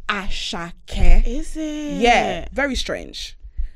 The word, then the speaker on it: Asake: And it's pronounced Asake.